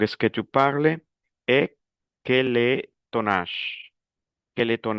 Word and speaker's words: quel est: Généralement, ça se prononce quel. Mais comment on fait la liaison, on dit quel est.